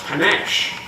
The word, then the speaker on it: panache: of the words was panache. And the spelling says pan, ache, but we don't pronounce it that way because it comes into English from French, from Italian.